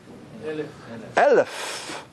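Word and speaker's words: אלף: No pronunciation. You know, it's interesting also, how do we say 1,000 in Hebrew? Elef.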